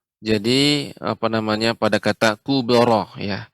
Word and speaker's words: الكبرى: Ya, alhamdulillah Ummu Kulsum ya, koreksiannya jadi apa namanya pada kata kubara ya. Ini harus nanti dilatih di rumah pengucapan kubara tidak kubra ya.